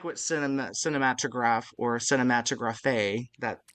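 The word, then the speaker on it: Cinématographe: what cine cinematograph or cinematograph that accent is there. I think um, the accent's on the middle e actually, not the end. It is pronounced cinematograph.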